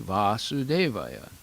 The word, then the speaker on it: Vasudeva: And whenever it's pronounced Vasudeva with the short A, that means the father of Krishna.